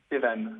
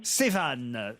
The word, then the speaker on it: Sévan: Evan. Sévan, ça s'écrit S-E-V-A-N.